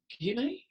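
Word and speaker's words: Guyenet: And there was a paper that was given by Stefan, is it Guinea? Yeah. Is that how it's pronounced?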